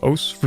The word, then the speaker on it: osu: Osu. You know, the click the circles game. It's spelt like Osu, but it's pronounced Os for some reason.